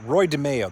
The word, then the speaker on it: DeMeo: He was working for the mafia, and he was ordered to put this car in the water by Roy DeMeo. That's how you pronounce it.